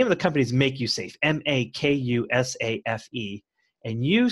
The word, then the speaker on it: MakuSafe: play on the words put a line over the a we pronounced it pronounce it and make you safe but the actual corporation